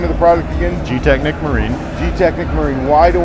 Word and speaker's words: GTechniq: Tell me why I want your product, and pronounce the name of the product again. GTechniq Marine.